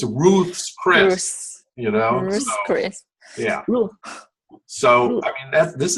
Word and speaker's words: Ruth's Chris: calls it that right they call it Ruth Chris because nobody can pronounce roots even America so they'll say yeah I'll meet you at Ruth's Chris because nobody else's pronounces it correct its Ruth's Chris you know yeah so